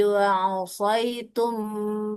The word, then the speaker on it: عصيتم: hatta iza fasiltum wa tanazang wa tanaza'tum fil amri wa asaitum min ba'di ma arakum.